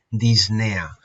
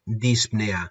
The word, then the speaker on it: disnea: se denomina disnea vale la palabra correcta escrito correctamente sería con esa intercalada pero realmente es apenas se pronuncia y podéis verlo escrito de esta manera o podéis verlo escrito en bibliografía como disnea sin la p vale muy bien una